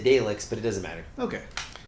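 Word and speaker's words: Daleks: droids look like uh delix they really do i was seeing that too but i like that i said it wrong didn't i you did you said dalex but it doesn't matter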